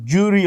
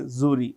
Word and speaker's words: jury: you know grand zuri award you can say jury also I prefer say zuri which is equally okay the secret agent uh